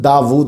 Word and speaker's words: داود: اسم داود قرآن مجید میں 16 مرتبہ آیا ہے۔ اس کا تلفظ داود ہے، ہم داود بھی کہتے ہیں، وا الٹا پیش وو، داود۔ یہ اسم جو